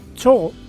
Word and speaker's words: 町: 町は町と読む場合もあります。